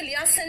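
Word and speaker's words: liaison: और इसमें लियासन में ई वाला, ये जो आई है ना लास्ट वाला, क्योंकि इसका प्रोनाउंसिएशन नहीं होता, इसीलिए लोग इसको भूल जाते हैं।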